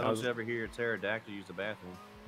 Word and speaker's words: pterodactyl: Why don't you ever hear a pterodactyl use the bathroom? Because the pee is silent.